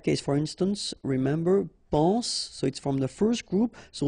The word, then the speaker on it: soit: Okay, then of course être and avoir, so être will become soit, remember final S is not pronounced, soit, then soyons, soyez, alright?